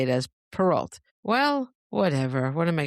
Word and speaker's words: Perrault: Perrault, which is Perrault. I'm the only person in the world that has chosen a pseudonym that is also hard to pronounce.